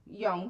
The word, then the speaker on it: Jung: Jung, the Swiss psychologist and psych analyst and young. Thank you very much. They the pronunciation that is okay.